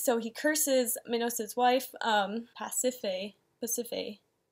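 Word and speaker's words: Pasiphaë: gonna do he's so he curses amino-acids wife past if a Mississippi it's how you say her name he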